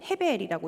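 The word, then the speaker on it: הבל: 우리가 잘 알고 있는 창세기의 아담의 아들 아벨의 이름도 실제 히브리어로 읽으면 헤벨이라고 읽고요.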